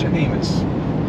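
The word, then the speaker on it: Jemez: j a m s hus oh smells like Spanish hus hus hus mountains hus not anus hus J is with a J and pronounced like an H but yeah some good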